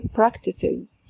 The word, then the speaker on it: practices: لو فعل زي ده عايزين نضيف له اس غصب عننا هنكسر، نقول practices is. شفتوا عشان نضيف له اس ضروري ان احنا نكسر، نقول practices.